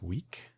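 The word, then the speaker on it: Weick: So there's an author, I believe his last name is pronounced Wick, W-E-I-C-K.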